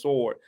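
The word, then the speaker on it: sward: spelled with a o it's spelled s w a r d but it's still says sword sword is a literary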